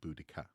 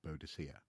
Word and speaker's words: Boudica: But in terms of pronunciation, if they're writing down sound using the letter C instead of S, for example, that's a choice that meant to their ears it sounded like Boudica, not Boadicea.